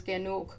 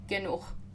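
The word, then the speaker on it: genug: So the German word for enough is ganuk and it is um ge n u ganuk is a little closer.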